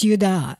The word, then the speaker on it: Judah: Illinois named Carmine I know that's how they pronounce it and by the way it was yudah actually if you want to say Judah but you know most of us say Judah yeah these were the clans of the zorothites